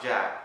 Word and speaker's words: Djaq: Just last week, Jack was bit by a snake. Oh, it's pronounced Jack.